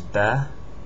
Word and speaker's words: ب: This is Ba. It's like a half circle with a dot on the bottom, Ba. It's just like the B in English, Ba.